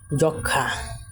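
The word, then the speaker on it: যক্ষ্মা: যেমন যক্ষা, যক্ষা, এখানে ম বর্ণটা উচ্চারিত সুপ্ত আছে।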